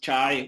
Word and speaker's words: chi: Some people say chi-square, whichever way you call it, just understand that it's spelled this way. So whether you call it chi or you call it chai, whichever one you call it, understand this.